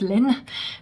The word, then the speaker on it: Laine: Laine, c'est vague, je crois, en finnois. Voilà, donc c'est un heureux hasard que pour nous ça fasse laine, mais c'est bien censé se prononcer Laine, mais bon, je vais dire laine, c'est plus facile.